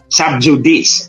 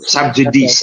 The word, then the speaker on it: sub judice: mga kababayan natut subj sub judice o sub judice or sub jdc but it's a latin word J in Latin is pronounced y and when c is